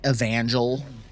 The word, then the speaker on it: Evangel: Sigardian Evangel, and then, or Evangel, that's how you pronounce it.